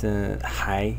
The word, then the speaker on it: 还: this character is pronounced hi in the second tone it means um still